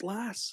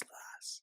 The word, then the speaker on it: Las: Like, I say Las Vegas. It's Las. It's Las. It's like Yeah, but Ted think Lasso. here in the US, we don't say it like that. Like, you say Los Angeles, Los, and then you say Las Vegas. That's how I say it.